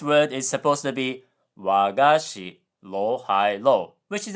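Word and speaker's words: 和菓子: So, this word is supposed to be wagashi, low high low, which is a traditional Japanese sweet. But Duolingo said wagashi, high low low, which sounds like an archaic way of saying my teacher.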